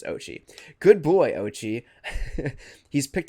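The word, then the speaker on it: Oatchi: line is I apologize I was just saying this dog's name wrong for the past three episodes it's fine moving forward it's Ochi good boy Ochi he's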